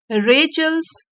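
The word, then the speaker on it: Rachel: story शुरू करते हैं रेचल अंकल एंड आंट तो यह जो नेम है इसको हम प्रोनाउंस करेंगे रेचल और यहां पे अपोस्ट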